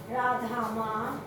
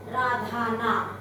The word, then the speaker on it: Radhamma: While doing chapter 17, I pronounced it as Radhana, double N-A, which is wrong, which is incorrect. The correct spellings are R-A-D-H-A, double M-A. It is double M-A, that is Radhama.